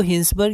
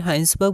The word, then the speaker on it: Hinsberg: बार देख लेते हैं इसको हिंसबर्ग या फिर हाइंस बर्ग बोलते हैं पर जनरली हम लोग हाइंस बर्ग प्रोनाउंस करेंगे और एक हाइजनबर्ग भी